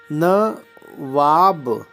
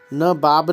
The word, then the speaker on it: नवाब: इच्छिक होगा इसी प्रकार न वाब न वाब यहां व होगा दो ब नहीं होगा नवाब न बाब नहीं नवाब फिर व्रत कैसे होगा